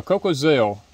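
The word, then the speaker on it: Cocozelle: November the 9th coca-cell how do you say that cocazel no coal Coco yeah cocoa Zell these are some of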